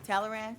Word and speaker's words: Talleyrand: Talleyrand? Yeah. Okay, is that how you say it? It's French, so like Well, say it in French.